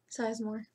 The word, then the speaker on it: Sizemore: Card four, Ted Sizemore, or Zizmore. How do you say that? What do you say? Sizemore.